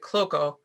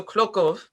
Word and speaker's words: Klockow: And it's pronounced slightly differently depending on what side you're on. So the Klockow family pronounce it Klockow, like how I pronounce it, but it's also Klockow if you're in Poland or parts of Russia.